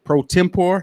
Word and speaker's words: pro tempore: to serve as the first african-american female judge pro tempore is that how you pronounce that yes for macomb city in the